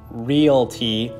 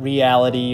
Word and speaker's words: Realty: intentionally mispronounced this company I know it's pronounced realty not reality or sometimes I combine